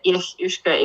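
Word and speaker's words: each-uisge: Ich Ushke. Ich usage. I'm not going to pretend that would It's just Gaelic, yeah. Ich Ushke.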